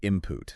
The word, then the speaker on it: input: So the N before it assimilates too. Yes, it is almost always pronounced as impute with an M imput.